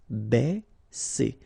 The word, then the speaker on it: baisser: Okay, because A and E together will produce the sound E. Baisser.